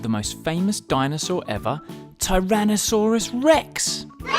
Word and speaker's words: Tyrannosaurus rex: most famous dinosaur ever tyrannosaurus rex how do you say that again tai ra na sa rus rex it's often called t-rex